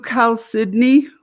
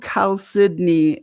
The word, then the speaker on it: chalcedony: agate, but a blue chalcedony and it looks like chalcedony, but it's c h a l d e c o n e y or y. Um, but blue chalcedony pronounce it like Sydney, Australia.